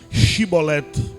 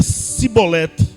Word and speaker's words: Chibolete: então ele lhes dizia diz pois chibolete porém ele dizia sibolete porque não podia pronunciar assim bem então pegavam dele e